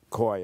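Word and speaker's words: Caughey: from John quois CA ugh ey koi it's pronounced his histories of California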